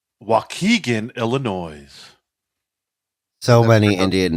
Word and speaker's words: Waukegan: That's pronounced Waukegan. Waukegan, Illinois.